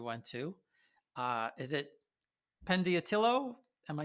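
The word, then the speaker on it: Pentedattilo: to uh is it pendiatillo am i saying it right pentida penti dot dealer right yeah because penta like five and attila fingers uh so it means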